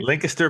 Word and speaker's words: Lancaster: event so uh but in Lancaster not Ancaster we're going to linkter linter yes lter Pennsylvania as the locals say linter PA for the US Women's